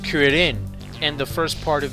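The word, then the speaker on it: クリリン: Now keep in mind, in the Japanese version, Krillin's name is pronounced Kuririn, and the first part of his name comes from the Japanese word for chestnut, which is cure.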